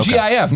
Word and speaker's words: GIF: GIF or GIF. The peanut butter, right? Now the answer is GIF.